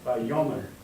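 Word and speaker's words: וַיֹּאמֶר: Yes, now put the accent on the yo. My yo, mom. Yeah, vayomer.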